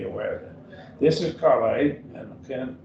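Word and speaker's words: καλή: This is Calais, and again, it's not a noun because it doesn't have the genitive form in an article.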